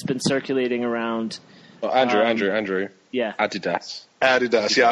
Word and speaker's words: Adidas: Yeah, I was going to point out the difference in pronunciation. Andy's been American for three weeks, so he's been away from England too long. So we call it Adidas. Adidas, yeah.